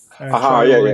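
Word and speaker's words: Traoré: Traore is how you pronounce it.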